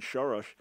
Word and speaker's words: Soros: So for me as a conservative, I look at all the funding that George Soros has done, or his Hungarian pronunciation, Soros.